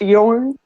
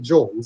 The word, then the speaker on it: Jorn: I believe it's pronounced Yorn. Oh, sorry. That sounded pretentious, but I'm pretty sure that's actually how to pronounce it. Well, I don't know, because Nick's been pronouncing it John, so I have never